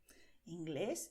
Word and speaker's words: inglés: Inglés es el idioma de Inglaterra y también es un hombre que nació en Inglaterra. inglés. ¿Ves que acentuamos aquí inglés?